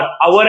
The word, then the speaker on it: hour: Yes angle between आवर एंड देखो मैंने आवर नहीं बोला मैंने आवर बोला। ओ यू आर H completely silent होता है। ओ यू आर आवर एंड बोलो या तो लोकल लैंग्वेज में आर एंड बोलो।